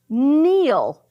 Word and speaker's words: kneel: Eel, kneel.